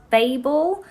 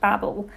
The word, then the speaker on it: Babel: shannon here who has since realized is actually pronounced babel not babble so every single time i say babel in